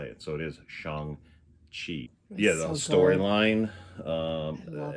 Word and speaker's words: Shang-Chi: So Shang-Chi, I always thought it was Shan, where you don't pronounce the G, but in the movie there's